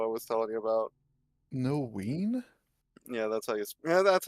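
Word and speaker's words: Noein: Noween? Yeah, that's how you pronounce it.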